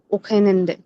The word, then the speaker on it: Wochenende: Wir arbeiten auch nachts und am Wochenende. ভোখেনান্ডে, ওখেন না, আমরা Wochenende. কারণ ডাব্লিউ কে আমরা আমরা উচ্চারণ করি V এর মতো।